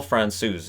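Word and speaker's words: Francouz: to start as well somebody tried to correct my pronunciation of France OU's so I went over to elite prospects I've got that that little doohickey that tells you how to pronounce names and now Pavel Fran Sue's is how it says it so there you go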